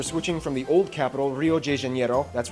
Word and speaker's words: Rio de Janeiro: from the old capital rio de janeiro that's right it's pronounced rio de janeiro not rio de janeiro get it right we're not in mexico this is portuguese we did that wrong